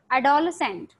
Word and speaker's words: adolescent: आपका S silent है, so that's why we call it as adolescent, ठीक है, this is adolescence.